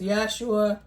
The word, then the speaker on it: Yahshua: And the utmost important thing is, if you are not right with the Lord Jesus Christ, Yahshua, as he's pronounced in Hebrew, you need to get right.